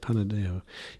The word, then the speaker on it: Panadexo: Panadexo.